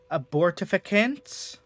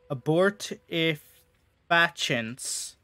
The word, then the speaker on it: abortifacients: How is this word supposed to be pronounced? Like, ancient is right there. Abortificants? Chints? Abortifacients.